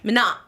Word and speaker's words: Manon: Manon, the N silent. And silent, yeah.